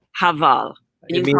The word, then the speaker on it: Heval: Heval. Heval.